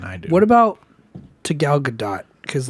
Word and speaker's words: Gal Gadot: so yeah gal gadot so it is gal gadot you're just missing it well i'm missing that